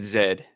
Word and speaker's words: Z: Canadian no why he said lost city of Zed that's what it's called loost city of Z but it is pronounced Zed and that is the most that